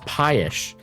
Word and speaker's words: pie-ish: It looks pie-ish. That's the way to say it. Pie-ish. Sounds like the word pious.